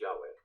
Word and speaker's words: Yahweh: Hebrew, usually pronounced Yahweh.